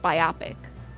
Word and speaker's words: biopic: should be biopic but I think it's pronounced biopic like myopic you know well met